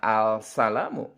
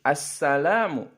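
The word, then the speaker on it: السلام: dengan Shin assalaamu alainaa anda tidak membacanya Al salahmu tapi assalaamu alaykum nya meresap hilang tidak terbaca Hai tapi ada yang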